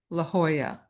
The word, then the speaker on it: La Jolla: L A J O L L A La Jolla is pronounced La Jolla.